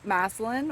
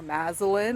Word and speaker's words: Massillon: We got onto the canal towpath in the town of Massillon or Masalin or Masin, however you want to pronounce it.